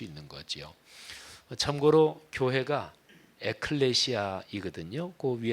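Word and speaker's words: ἐκκλησία: 그 개여 칸다 4 교회가 에클레시아 인데 하나님의 나라는 바실 a 아 이렇게 발음합니다 에클레시아 바실 내 이야 이게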